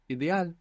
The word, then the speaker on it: ideal: would you say ideal so really think about how it's spelled and try and pronounce each of those vowels as they are written and I like ink e Like Elephant a like apple good ideal how would